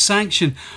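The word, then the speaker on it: Sanxion: the game is pronounced sanction but look at the word itself it is spelt with an x in the middle now there's two reasons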